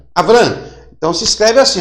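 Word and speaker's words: אברם: Como é que se lê Abraão? Olha, se lê Avrã. Avrã.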